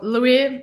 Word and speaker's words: Luiii: market more catchy than Louise Grossman. What you have to ask how to pronounce it, and so it's just Louis, and it's more easy.